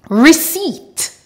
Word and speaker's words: receipt: come from Latin or French Origins for example receipt cool Sam core thank you very much everyone